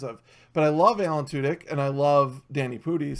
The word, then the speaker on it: Alan Tudyk: Now the other thing that's hilarious about Alan Tudyk is most people don't realize how much shit he's in.